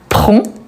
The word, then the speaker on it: prend: masculin pardon donc Roger prend je ne prononce pas le D à la fin des décisions intéressantes et